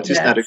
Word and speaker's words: tystnad är guld: There's this expression that tystnad är guld, I think. Yeah. Can I say it right? Tystnad är guld. Yeah, tystnad är guld.